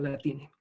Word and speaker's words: Latinx: escucha en muchas partes, de decir la X se pronuncia con E, o sea, Latinx se pronuncia como latine.